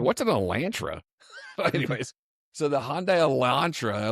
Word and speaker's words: Elantra: I've always said Elantre. Elantra.